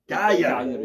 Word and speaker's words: Cagliari: Cagliari.